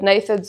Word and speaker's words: gnathids: Since you mentioned gnathids, did I pronounce it right? I think it depends on how you want to pronounce it, but gnathids is generally what we call them.